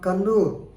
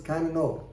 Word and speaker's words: Kannur: State, was travelling from Kannur. Normally we pronounce it as Kannur, but nowadays it has become Kannur.